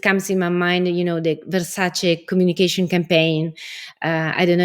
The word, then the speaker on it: Versace: It comes in my mind, the Versace communication campaign. I don't know if you saw that. It's Versace, not Versace.